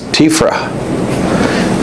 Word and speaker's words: TEFRA: And Eddie, who was a great punster, sort of said, Rod, you've always pronounced that wrong. It's TEFRA.